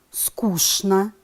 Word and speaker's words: скучно: пишем конечно произносим конечно пишем скучно произносим скучно пишем нарочно произносим нарочно